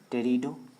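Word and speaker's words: Pteridophyta: फिर टेरिडोफाइटा, P silent है, टेरिडोफाइटा।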